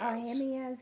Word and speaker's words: Ahimaaz: So, the Cushite bowed himself to Joab and ran, verse 22, and Ahimaaz How to pronounce Ahimaaz? Ahimaaz, the son of Zad- Zad- Zad- Zadok?